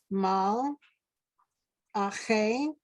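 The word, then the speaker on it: מַלְאָךְ: Ache, mal, ache, mal, la, no, mal, ache, mal, lache, Okay, the last one, remember, it's mal, ache.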